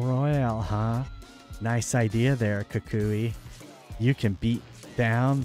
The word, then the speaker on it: Kukui: Kukuki. Kukuki. Kukui. Kukui. No, Kukui. Yeah. There's not another K in there, evil bud.